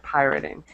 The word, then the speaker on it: pirating: okay just for pronunciation make sure you pronounce the long ey sound pirating okay um very good